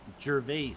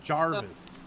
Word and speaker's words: Gervais: That's His last name is called Gervais, not Wait, who's Jarvis.